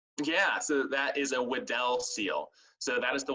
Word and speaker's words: Weddell: So you guys should definitely find a video of a Weddell seal. It's Weddell.